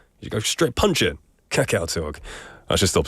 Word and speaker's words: 카카오톡: In English, I would say 카카오톡, 좀 강렬하게. But in Korean, it's a bit softer. 카카오톡, 카카오톡. I like the English version. It's stronger. You go straight punch it. 카카오톡.